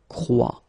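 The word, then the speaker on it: croient: And phonetically here, as we saw, ent is not pronounced, so you get the sound croit. Exactly the same sound as we've got here.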